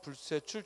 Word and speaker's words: 불세출: 특히 몰상식과 불세출 주의하지. 왜냐하면 몰상식, 불세출 해도 어색하지 않거든. 그래서 우리가 헷갈릴 수 있기 때문에 몰상식, 불세출 된 소리로 발음해야 돼요.